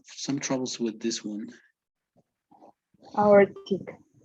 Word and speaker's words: aortic: Aortic. No. Auric. Yes, it's like we're not pronouncing the T, right? Uh, As if the T didn't exist. Aortic.